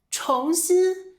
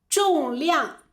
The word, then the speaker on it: 重: 这个重字呀也是个多音字，重新就是再来一遍，再做一次的意思。它还有一个读音是重，重量，这个东西很重。